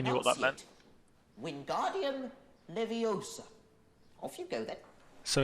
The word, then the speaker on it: Leviosa: someone's eye out besides you're saying it wrong it's leviosa not leviosa so hermione ends up